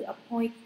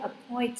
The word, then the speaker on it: appoint: Thì this là một cái tiền tố cho là không làm thay đổi trọng âm, nhưng các bạn chỉ tập trung vào từ appoint thôi. Appoint trọng âm 2.